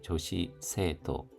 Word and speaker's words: 女子生徒: 여학생, 조시가 짧은 발음입니다. 조시세토 세토우도 토우가 아니라 세토입니다.